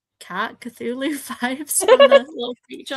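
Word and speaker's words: Cthulhu: Oh, cthulu. Yeah. Yeah. The tentacled ones. I never know how to say that. But I'm getting like cat cthulu vibes from the little creature on the front.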